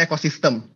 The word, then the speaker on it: Ecoxyztem: Nama kita sebenarnya pronounce-nya Ecosystem.